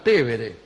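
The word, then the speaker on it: Tevere: al río en realidad el río se llama tévere Nosotros le decimos piber Aquí bueno se habrá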